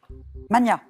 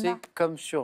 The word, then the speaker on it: magna: Mania. Oui, ça c'est oui. En français, on entend souvent mania, et en fait, on doit le prononcer Magna. comme pour Magnus. Donc c'est Magna, Magna. même si on l'entend moins, hein, mais voilà.